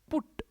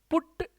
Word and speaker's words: put: और वो कौन है, पुट। पी से बनने वाला पुट। पुट की सेकंड फॉर्म पुट पुट। एक होता है पुट और एक होता है PUT। इसका प्रोनाउंसिएशन ना पट। पुट होता है और एक होता है पट।